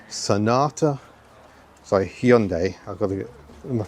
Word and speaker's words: Hyundai: Hyundai Sonata. Sorry, Hyundai. I've got to get my pronunciation correct, haven't I?